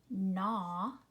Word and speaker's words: gnaw: Which letter is silent? It is the G. It is not gnat. It is gnat. Gnaw, gnome.